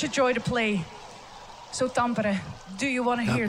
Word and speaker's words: Tampere: Tampere.